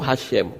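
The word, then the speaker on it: השם: He-Shin-Mem, itu Hashem membacanya.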